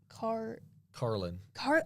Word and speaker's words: Carlin: And then, because I say Caroline, you say Caroline, and then I saw her TikTok, and I was like, oh, that says Carlin.